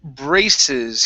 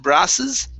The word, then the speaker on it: braces: to uh the word braces here instead of brasses this is bray braces braces very good uh this